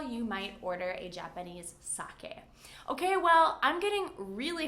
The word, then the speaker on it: sake: A lot of people say sake, and people will understand you, but it's not really correct. So if you drink alcohol, you might order a Japanese sake.